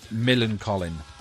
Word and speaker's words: Millencolin: How do you pronounce it again? Because I'm still struggling to say the band name. Millencolin.